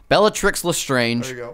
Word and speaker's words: Bellatrix Lestrange: Yep, you said ch instead of tr. You are... Tricks, not ch-tix. Bellatrix Lestrange, Mad-Eye Moody.